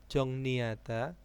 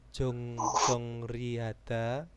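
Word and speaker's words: 정리하다: Dungnyo, jongnihada, jongnyu-jang. Bukan dungryo, bukan jongrihada. Nah, itu bacanya jongni.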